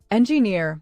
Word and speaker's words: engineer: Engineer has stress on the last syllable.